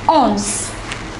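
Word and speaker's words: onze: to 20 let's go the number 11 is owns look at the pronunciation carefully it is the number 12 is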